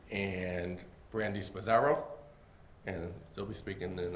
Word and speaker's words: Spasaro: My name is Brandy Spazzaro. I was asked to spell it, so I'm going to do that.